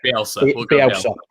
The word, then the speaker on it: Bielsa: So your manager, you'll have to pronounce him because I can't pronounce it. Bielsa.